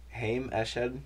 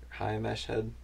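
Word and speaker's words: Haim Eshed: this is last week heym ash head i'm pretty sure is how you say it hi mesh head sounding hey um former head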